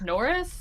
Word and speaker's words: N1R05: Actually, it's pronounced Norris. It's pronounced Norris. It's pronounced Norris. It's a very normal human name for normal humans to have.